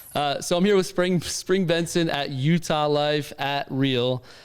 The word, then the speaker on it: Bengtzen: Well, Bengtzen, because it's spelt ridiculous. What do people call you? Bengtzen.